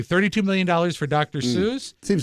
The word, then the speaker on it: Seuss: million dollars for Dr Seuss seems as far as we pronounce it in my house Dr soyce why was she saying